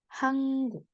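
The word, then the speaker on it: 한국: Selatan di sini bacanya hangguk hangguk Nah di sini ketika ad niion ketemu sama giok dia akan terbaca seperti Eng tapi tidak literally Eng jadi hangguk hangguk n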